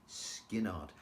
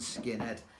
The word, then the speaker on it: Skynyrd: know Sweet Home Alabama no it's skinnard don't ask me how to spell it but it certainly isn't skin Ed anyway we digress uh